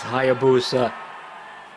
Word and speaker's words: Hayabusa: he knows my name say it right it's hayabusa let's do it let's do it let's do